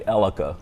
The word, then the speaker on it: Elaka: I pronounced it the same way the first time I heard it, but it's actually Elaka Treats.